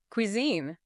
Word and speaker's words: cuisine: Cuisine. Cuisine. Note the Q sound at the start and the stress on the second syllable.